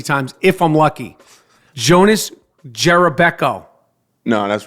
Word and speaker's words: Jerebko: is the American Way so the announcers say Jerebko yeah they don't say Jerry Beck oh no they've never